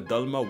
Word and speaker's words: Dalma: Whenever you Americans spell anything Indian, it's just like you always put ah in A. And I was saying in the past, just say oh, not ah. It's not Dalma, it's Dalma.